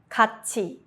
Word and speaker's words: 같이: This is called 구개음화, palatalization, and it makes the sound smoother. Examples: 같이, together.